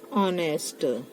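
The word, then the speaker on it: honesty: जीी courage to बी ऑनेस्ट it takes courage to बी ऑनेस्ट बट ऑनेस्टी एच ओ एन ई एस टी वाई T silent हो बट ऑनेस्टी मैक्स एम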